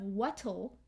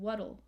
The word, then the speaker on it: what'll: what will i do so we have this flap t so instead of wattle with a t right we have more of a d sound waddle wuddle rhymes with the word puddle puddle wuttle what'll i do